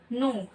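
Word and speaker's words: know: इसके बाद है नो। नो मीन्स होता है जानना। दोस्तों इसमें के साइलेंट होती है, इसी वजह से हम इसको नो पढ़ते हैं।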